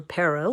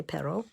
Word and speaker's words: perro: the little puppy or in spanish it's perro or peru i should say pero and i'm going to